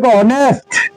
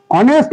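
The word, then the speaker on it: honest: ঠিক আছে ভালের মত সরবর্ণ ঠিক আছে তারপরে অনেস্ট অনেস্ট ম্যান অনেস্ট ম্যান ও উচ্চারণ এখানে সাইলেন্ট ওকে তারপরে দেখ এই শব্দটা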